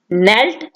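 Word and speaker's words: knelt: घुटने के बल झुकना, नेल्ट नेल्ट, इसमें भी के साइलेंट होगा, ठीक है।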